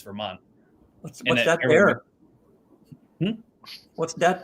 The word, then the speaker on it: Vermont: Vermonters don't pronounce our T's. It's not Vermont for us. It's Vermont.